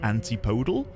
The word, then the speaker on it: antipodal: I'm close to somewhere which is, I believe the correct pronunciation is antipodal.